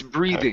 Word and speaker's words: breathing: one here is breathing get that theth the th sound in there it's breathing okay it's breathing good job